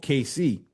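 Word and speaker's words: Caycee: in a town called KC. C A Y C is how it's spelled. Not KC like Kansas City.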